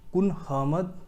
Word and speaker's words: Kunhahammad: Section clause D का ही दूसरा judgement है, कादरी कुन अहमद versus state of Madras. इसका जो नाम है थोड़ा सा मैं प्रोनाउंसिएशन आपको बता देता हूँ। कुन अहमद, KUNHAHAMMAD, कादरी कुन अहमद versus state of Madras 1960 supreme court.